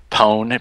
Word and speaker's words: Pwn: Pwn, PWN, and it kind of is what you imagined hacking to be if in like the late 80s.